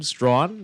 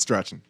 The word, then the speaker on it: Strachan: Strawn, that's how you pronounce it. Doesn't matter what it looks like to So you. it's not Strachan.